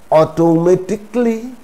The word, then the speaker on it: automatically: how should we pronounce just pretend that there is no a at the end so it is not automatically it is automatically basically chaotically logically practically